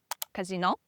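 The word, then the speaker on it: casinò: Just move the stress to the last syllable. That's the difference. Casino, it's a place to gamble.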